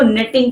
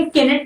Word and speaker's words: knit: खवातीन करती हैं, वो निटिंग कहलाती है। KNIT, नेट। ठीक है, इसमें भी क्या है, प्रोनाउंस क्या है, KNIT, के साइलेंट है, केनेट नहीं होगा, नेट।